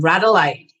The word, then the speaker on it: Radelaide: And then somebody from Adelaide messaged me and said, why don't you just call them Radelaide? Because rad rhymes with plaid.